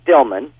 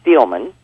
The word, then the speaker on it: Steelman: She calls her Stillman, but she's Steelman.